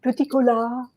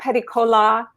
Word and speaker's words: Peticolas: It's a French last name, and you know how the French are about last consonants. They usually don't pronounce them. So the French pronunciation is Peticolas. But I go either way. I sometimes tell people Peticolas, like Pepsi-Cola, Peticola.